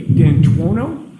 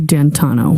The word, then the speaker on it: D'Antuono: And when you went outside, you learned that he had come and his friend, is it Ricky D'Antuono? How do you pronounce the name? It's Ricky D'Antano.